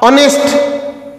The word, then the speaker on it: honest: गोटे कौन शब्द कहवा गोटे दृष्टांत दवा आवार ऑनेस्ट ऑनेस्ट मध्य से परी HONEST ऑनेस्ट ऑनेस्टा मध्य अ उच्चारण होउची आवार रे आ उच्चारण होउची अ